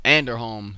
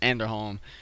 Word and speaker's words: Anderholm: But um going going back into the match card, the second match was Brian Strowman versus Evan Underhome. Anderholm, that's how you pronounce it. Anderholm.